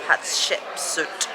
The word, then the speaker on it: Hatshepsut: kings we've decided to give the temple of hatshepsut that's how you pronounce it a miss because honestly we're just